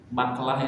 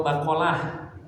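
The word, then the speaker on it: بقلة: Itu disebutnya baklah atau bakolah. Nah, cuma pengucapan orang Arab, khof itu menjadi gin, makanya jadi bagalah.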